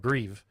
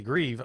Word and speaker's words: Grieve: I know I mispronounced it when I first when I first introduced you. If I would have if I would have realized it was actually Grieve, I would have been like, "This is this is cool."